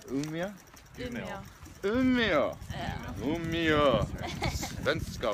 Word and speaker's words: Umeå: So in Umea right now, she's having a few bevvies, celebrating Sophie's finished her thesis.